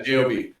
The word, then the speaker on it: Job: Satan goes, his name is spelled Job. Yeah, J-O-B.